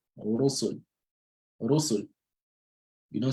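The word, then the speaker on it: رُسُل: So the Ra will be pronounced heavily with a full mouth. So Rabbi, right? Rusul. Rusul.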